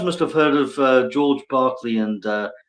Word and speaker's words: Berkeley: But yeah, I was going to say you guys must have heard of George Barkley and uh I think you pronounce it Barkley because he was Irish.